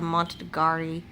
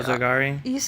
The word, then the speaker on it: Monogatari: It was just we were all being nice, Mullet went and watched I can't say the Montagari movies. What is it? Category? I don't know either. I can't pronounce it either.